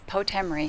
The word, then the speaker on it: Potemry: Why do we say your last name wrong? You always do. It's Potemry. Potemry.